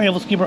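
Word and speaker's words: Æbleskiver: They are Aebleskiver. I asked the gentleman at the window, and he confirmed that I had been pronouncing it correctly.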